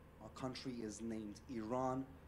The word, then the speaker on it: Iran: the Iranian people but you're pronouncing your country's name wrong our country is named Iran not Iran please once and for all let's get this